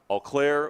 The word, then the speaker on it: Eau Claire: a lot worse than what we're dealing with eau claire wisconsin am i pronouncing that right that's right okay my mom